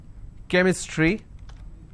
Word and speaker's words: chemistry: for example change but when i have the word chemistry ch becomes curse sound so i say chemistry